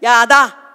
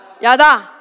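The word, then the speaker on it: ידע: 찍고 나온다 야돈 대 발음을 잘 하셔야 돼 야다 야다 자 히브리 말로 야단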